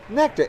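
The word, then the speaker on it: NKTR: Is that Nectar? N-K-T-R. Yes, Nectar. yes. Luckily for you, I speak phonetically.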